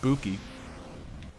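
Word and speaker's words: 武器: lesson back on your back in it correct pronunciation is in fact Buki although it's 9 s we really don't have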